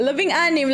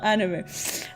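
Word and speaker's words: labing-anim: Labing anim. Anime. Why did I write anime? Okay, sorry. Okay, yeah. Labing anim. Not anime. Okay, labing anim.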